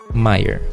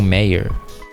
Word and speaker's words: Maier: Andrei Maier, ou Meyer. Mas se escreve Maier, M-A-Y-E-R.